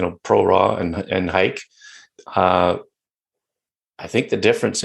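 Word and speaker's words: HEIC: you're shooting jpeg or hike and I'm sticking with the hike pronunciation by the way I don't care what Apple says Apple pronounced it Heek I'm saying hike let make hike happen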